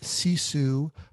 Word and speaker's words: Sisu: Let me just remind everyone that I'm speaking with Fe Huck, and we're talking about the app CESU. um which is spelled s i su.